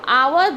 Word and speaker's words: hour: So hour, though it starts with a consonant H, but when we pronounce it, it starts with a. Hour.